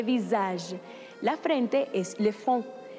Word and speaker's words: visage: Y como se escribe con una sola S, suena como Z, le visage.